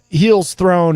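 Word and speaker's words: Hel's Throne: Heels Throne. It's HEL''S and then Throne. So it's like Hell's Throne, but with only one E.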